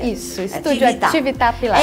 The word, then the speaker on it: Atività: E como funciona o Estúdio Atività? É assim que pronuncia? Isso, Estúdio Atività Pilates. É italiano, Atività.